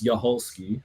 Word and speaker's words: Yoli: believe it or not my name is Yoli that's how you say it Yi yep um so